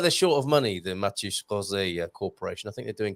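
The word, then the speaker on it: Mateus Rosé: practice your pronunciation, because you've got the Matius with the shush sound, and you roll your R straight out of the shush into a rolled R, Rosé.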